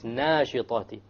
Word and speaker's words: وَالنَّاشِطَاتِ: They make heavy alifs light, and they make light alifs heavy, and this is a mistake. They pronounce وَالنَّاشِطَاتِ maybe وَالنَّاشِطَاتِ, which is a mistake. It's nashitati. Okay? Nashta, once again, should be heavy because the letter before it is heavy.